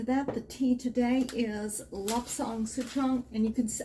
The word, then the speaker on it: Lapsang: Lapsang, I pronounce it with a soft A.